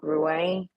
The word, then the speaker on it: Rouen: Okay, me and my kid are talking about where we used to live, which was called Rouen, right? Rouen, right? Yes. It's pronounced differently in French, right? Rouen.